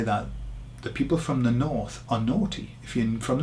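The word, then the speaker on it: norte: north of some place the word is nor n okay sounds like naughty doesn't it n so some people say that the people from the north are naughty if you're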